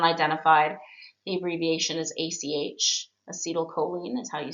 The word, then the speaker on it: acetylcholine: Acetylcholine is how you say it.